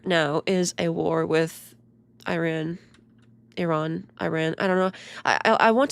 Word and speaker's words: Iran: They're like Iran, not Ron. like it's always an A sound, not an ah sound. Like all the normal languages and countries say ah when it's the letter ah. But Americans say A. Everything is A.